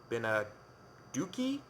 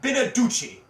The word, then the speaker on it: Beneduce: Mike Beneduce? Mike Beneduki? Mike Beneducky. Seth, that is my husband you're talking about. It's Mike Beneduce.